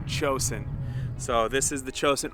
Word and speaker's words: Cosaint: I know it sounds like it says Cosaint, but it is Gaelic and it is pronounced Cosaint.